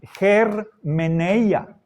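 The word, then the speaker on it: ἑρμηνεία: Recuerden, está con espíritu áspero Por eso la pronunciación es germeneia.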